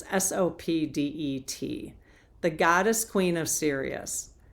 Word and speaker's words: Sopdet: You may be in my pronunciations. It's Sopdet, the goddess queen of Sirius.